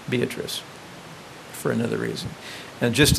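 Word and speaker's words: Beatrice: Fitch Kenny For Whom the town was named pronounced her own name beatric and that sort of escaped people so we've tried to come up with a whole lot of reasons why we pronounce it beatric but in fact beatric did pronounce her own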